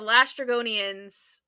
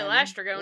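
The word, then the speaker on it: Laestrygonian: You said Lastragonian. How do you say it? I say Oh, I say Lystragonian.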